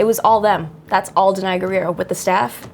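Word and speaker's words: Danai Gurira: Denai Guerrero?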